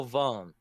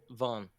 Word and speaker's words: vin: pronounce it in french ask my french friends they would say v-i-n would be you barely even say it's almost like you just like you don't even say a consonant at the end it's like you just like switch your pronunciation from your throat to your nose you're like yeah it's